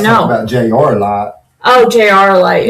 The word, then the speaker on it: JR Light: Oh, JR Light. Not Junior Light. I said it wrong. See, it's JR.